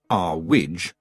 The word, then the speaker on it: Earwig: didn't trust books and Mrs earwig pronounced R WID at least by Mrs irwig believed in shiny wands